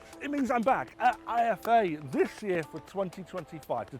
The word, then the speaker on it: IFA: It means I'm back at IFA this year for 2025 to take a look at the latest and greatest technology. But the only problem is, I've been saying IFA all wrong. It's not called IFA, it's called IFA.